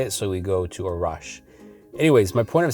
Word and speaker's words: Arash: And if you didn't know, my correct pronunciation of my name is Arash. I say Arash because I Americanized it so people can say it quicker, more easily instead of saying it's Arash.